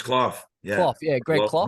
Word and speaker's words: Clough: Yeah, it's Clough.